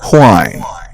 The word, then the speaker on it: whine: Wine or whine. Wine or whine. Oh, so you can actually sound it with a silent H as well.